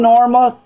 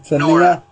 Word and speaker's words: Nora: And friend Norma, how you pronounce it? Nora. It's Nora.